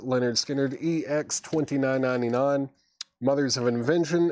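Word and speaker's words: Lynyrd Skynyrd: Leonard Skinner, pronounced Leonard Skinner, EX $29.99.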